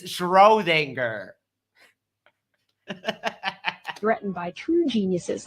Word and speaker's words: Schrödinger: And Einstein criticized scientists he felt threatened by true geniuses like Erwin Schrödinger, quantum theory, Werner Heisenberg. You mean Schrödinger? They've got pretty much every name wrong, like from the start. It's Schrödinger.